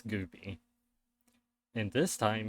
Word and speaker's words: Goopie: It's either spelled, depending on what I can get, it's either, sometimes it's spelled, it's got the, ends with the Y, sometimes it ends with the IE, but it's Goopie.